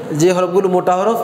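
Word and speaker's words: حاء: সরাসরি মূল হরফ মোটা হরফ হিসেবে নিয়ে আসা হয়নি আচ্ছা তাহলে এই হরফের উচ্চারণ বলেন খ হা জিম জিম খা এর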